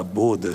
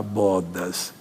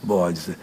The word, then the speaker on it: bodas: Essa palavra bodas significa, eh, o pronúncia é bodas mesmo. Há umas pessoas que eu já vi falar bodas, coitados, bodes. São as namoradas dos bodes aqui. É bodas.